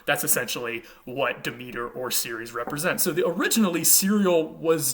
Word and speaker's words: Ceres: In the Roman tradition, she was named Ceres, would have been a hard C originally, Ceres in Latin, and we get words like cereal from this particular goddess's name.